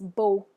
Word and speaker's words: beau: But when we see that X, we just don't pronounce it. All right, and that word is beau.